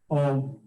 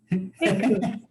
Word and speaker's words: Bhikkhu: Sensation, obikku, is not the self. Bhikkhu. How do you say that, please? Bhikkhu.